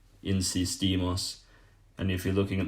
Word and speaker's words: insistimos: And again, just with the other verbs, you're going to put a bit more emphasis on the last part of that. So for example, if you're looking at the verb insistir, to insist, we insist is just insistimos, insistimos.